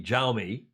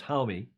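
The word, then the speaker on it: Jaime: solaire don't call me xiaomi british and others anglos who call him xiaomi it's homie it's pronounced in spanish and he is a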